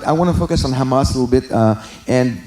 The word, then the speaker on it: Hamas: pronounceable word tanak well Hamas would not be pronounceable if you didn't put those A's in there so now it becomes Hamas so the false idea